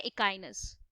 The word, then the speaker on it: Echinus: ये स्पेलिंग से आइडिया नहीं लगाना है, याद करेंगे इसको, दैट इकाइनो इकाइनो, डोंट डू दैट।